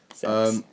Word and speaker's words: CeX: Where I live in Aylesbury, in the UK, there's a shop called CEDX, or CEX, as how you want to pronounce it. Sex.